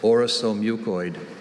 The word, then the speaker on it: orosomucoid: That second syllable, the second vowel sound, is a schwa.